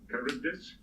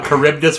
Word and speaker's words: Charybdis: Colonel Stephen Ritchie was the commanding officer of the explorer ship Charybdis. I'm not really 2037. sure how to pronounce it. Charybdis was one of the beasts that Odysseus fought on his way back in the Odyssey.